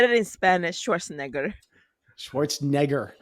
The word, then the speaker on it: Schwarzenegger: how did you say his name I say Schwarzenegger I'm saying that wrong aren't I I am oh my God okay made me hungry is it Schwarzenegger my name is Arnold Schwarzenegger Ellie you should give proven chance come on